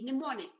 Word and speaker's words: mnemonic: Well, you have the alphabet, you have the letter M before N, but the M is silent. So we do not pronounce it as mnemonic, it is pronounced as mnemonic.